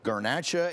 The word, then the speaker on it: Garnacha: Tell me if I'm screwing up the pronunciation. It's Garnacha and Monastrell.